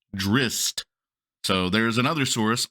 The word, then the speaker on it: Drizzt: drizz driz Darden and they claim that it's pronounced drist so there is another